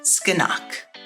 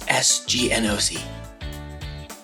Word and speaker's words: SGN OC: And welcome to Skeenock. SGNOC. What? It's SGNOC. I know how it's spelled.